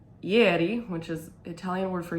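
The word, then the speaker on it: ieri: the way down and this shawl is called yeti which is italian word for yesterday and it's spelled i-e-r-i and it's by maria nicole um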